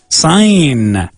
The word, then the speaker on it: sign: Sign. S-I-G-N. It's not sign. It's like S-A-I-N in Spanish. Sign. Interesting. Don't pronounce the G.